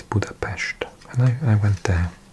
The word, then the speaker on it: Budapest: My Hungarian is very bad, but I know that an S is pronounced sh so it's Buddhapest.